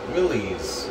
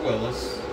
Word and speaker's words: Willys: one 30 f scale Willies or Willis depending on how you prefer to pronounce it uh MB Jeep build